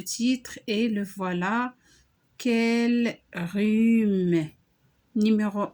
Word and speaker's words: rhume: Ici, on n'a pas prononcé une lettre. Quelle est la lettre qu'on n'a pas prononcée? C'est la lettre H. Quel rhume.